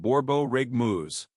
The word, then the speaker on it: borborygmus: Scientists have a special name for stomach growling, borborygmus, pronounced borborygmus.